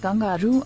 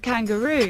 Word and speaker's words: kangaroo: is silent sword kangaroo if you call it kangaru then it'll get offended and stop hopping this beautiful animal is called kangaroo